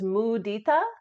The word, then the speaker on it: mudita: joyfulness towards The Virtuous the Sanskrit pronunciation is mudita and in English this